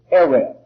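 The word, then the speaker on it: ערב: translations but there is a particular hebrew word eret we would spell it out e-r-e-v that's close enough which means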